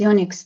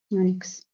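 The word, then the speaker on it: eunuch: How do Unix Unix? Thank you. Unix. Thank you. That's how you pronounce it.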